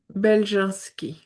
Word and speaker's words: Beljanski: Beljanski. Beljanski.